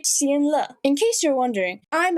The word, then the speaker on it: Xianle: 800 years ago, he was a revered martial god, the crown prince of Xional. Xional? Like vinyl? Where the f is Xional? It's supposed to be Xianle.